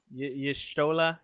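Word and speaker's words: Y'shtola: Yeah, Yeah, I think it's Ishtola. Is that right? Am I pronouncing that right? Yishtola.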